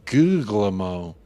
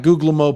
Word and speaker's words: Guglielmo: The second G in Guglielmo is silent. Guglielmo. I like Guglielmo personally until I hear him say it.